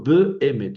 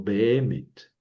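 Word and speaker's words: בֶּאֱמֶת: Entonces, yo no digo B em sino bemet.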